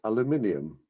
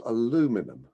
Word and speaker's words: aluminium: in mind number one there's a light metal that will in future be spelled and pronounced aluminium not aluminum unbelievable number two i